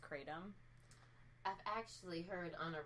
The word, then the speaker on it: kratom: say it correctly I just like calling it crown them it's actually pronounced kratom I've actually heard on a recent Pocket podcast